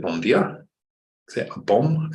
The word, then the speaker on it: bom: Is it a bom? Is it an M? Or did that autocorrect you? I thought it was bom. Bom. I'm saying it wrong the whole time.